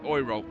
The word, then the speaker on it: Euro: So correct as it as it is pronounced Oro which is I find terrifically ironic I have to say.